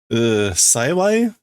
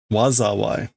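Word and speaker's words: 災い: Wazawai. Wazawai, not Saiwai.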